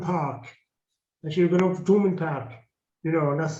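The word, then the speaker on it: Thomond: have gone up to tourman park you know and that's thulman park there should be no h you know because we don't we don't pronounce our th's anyway he was a great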